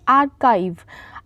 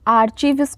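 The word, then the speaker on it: archive: संग्रहालय को बोलेंगे आर्काइव। आर्चवस को नहीं प्रोनाउंस करना है। आर्काइव बोलना है। ए आर सी एच आई वी ई आर्काइव।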